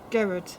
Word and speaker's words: Gered: I can never pronounce his name. Manowitz. Manowitz. Yeah. It's is Gared.